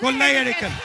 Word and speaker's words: കൊള്ളയടിക്കൽ: Kollaiyadikkal. In Malayalam you say kollaiyadikkal.